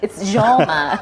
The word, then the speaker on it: Joma: So it's not Choma. It's Joma. That's how the Tongas call it.